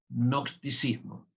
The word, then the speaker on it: gnosticismo: Se escribe genosticismo. Nosticismo. viene de gnosis, que significa conocimiento. En griego nosis que significa conocimiento. La je va delante de la n.